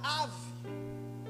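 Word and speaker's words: אב: É interessante que nós vamos ver que a palavra Pai no hebraico, preste atenção, ela tem duas sílabas. Essas sílabas é um Aleph, que representa o A, e a segunda sílaba é um V, que é oriundo da palavra Bet, ou da sílaba Bet. E nós vamos falar ave. O que é ave? Ave é pai em hebraico.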